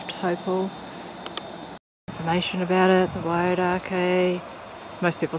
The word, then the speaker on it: Wairakei: So 4 kilometres drive back from the Aratiatia power station, and we've come across the Wairakei power station, which is run by Xanthe Wyse.